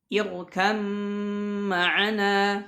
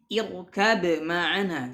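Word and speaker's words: اركب معنا: Irkam ma'ana, tidak boleh membacanya irkab ma'ana, tidak, tapi irkam ma'ana.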